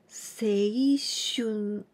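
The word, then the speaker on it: 青春: We pronounce seishun.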